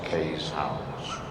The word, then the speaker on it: Keeshonds: Kees is pronounced Kees in Dutch, so we call our dogs Keeshounds.